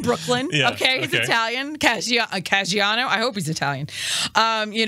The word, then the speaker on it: Caggiano: Frank Caggiano, I finally learned how to say it, is the Bishop of Bridgeport.